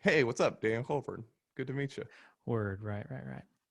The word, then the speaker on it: Colburn: I'm your host, Daniel Colburn. That's burn, not born. Burn. Even though it's Technically, yeah, spelled it's burn. O-U-R-N-E.